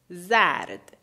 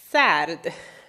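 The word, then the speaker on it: زرد: Zard, zard. Pay attention to the way that the first sound, the first letter sounds, basically.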